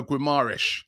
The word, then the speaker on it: Guimarães: midfielder in that area should that be bruno guimaras as i was told yesterday i should pronounce it um 24 experience brazilian playing for